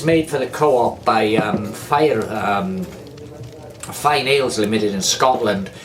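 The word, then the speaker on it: Fyne: Now this is made for the co-op by Fine Ales Limited in Scotland. I don't know if I'm pronouncing that right, but it's spelled F-Y-N-E, so fine to me.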